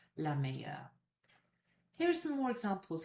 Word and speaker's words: meilleure: But it doesn't make any difference to pronunciation here. So le meilleur, la meilleure.